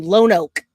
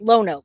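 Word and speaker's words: Lonoke: All right, so thank you, Lone Oak. Thank you. I appreciate that. It's pronounced Lono.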